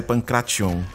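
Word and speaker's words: pankration: língua inglesa falam porém no grego original a pronúncia é pancrapião eu costumo sujar muito tempo a falar aí sai pancration mas o t é limpo no original Digamos que o pancrácio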